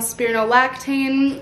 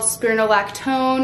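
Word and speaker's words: spironolactone: I talked to him I told him I was on spirino laane which I now know is called spirolactone I think I think I was saying it wrong this whole time spirolactone my guy told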